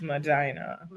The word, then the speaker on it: Medina: Tell us how you pronounce that. Mina. It's Madina.